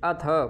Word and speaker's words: अथ: अरसी ठीक अगला लोक अथ अथ अथ नहीं है अथ पूर्ण थ का उच्चारण करना है अथ चै नम अथ